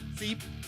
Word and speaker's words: Sepe: Sepe. Seep. Wait, why do I always say it wrong, don't I? It's Seep. Seep.